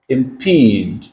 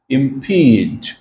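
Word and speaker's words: impede: तो प्रोनाउंसिएशन है IMP long ई, उसके बाद है D, और यहाँ पे एक्सेंट आएगा आपका। तो ये है इम्पीड। इम्पीड, तो P के ऊपर स्ट्रेस है। इम्पीड, इम्पीड।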